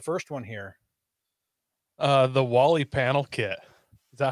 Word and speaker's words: Wally: by built right industries it's spelled like molly but with a w i'm assuming it's for